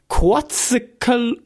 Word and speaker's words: Quetzalcoatl: I think you know to pronounce this. Quetzalcoatl.